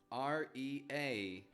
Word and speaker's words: really: Again, spelled with an E-A. R-E-A-L-L-Y, but pronounced really.